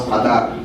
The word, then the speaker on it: Qadar: And I know, unless you're French, you can't pronounce Qadar. You can't do that throaty thing.